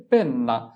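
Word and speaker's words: penna: খাতা এরপরে হচ্ছে কলম কলম এর ইতালিয়ান হচ্ছে পেন্না পেন্না তাহলে তোমাকে লিখতে হবে পেন্না পি এন পেন এনে আনা পেন না পি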